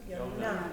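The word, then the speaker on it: יוֹנָה: So remember, holum, dot on top. When it's with the vav, it's a holum vav. The T is the kamatz. So how do we pronounce this? Yonah.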